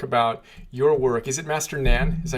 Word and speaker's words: Master Nan: and you talk about your work is it Master Nan is that how you properly pronounce his name yes me n yeah so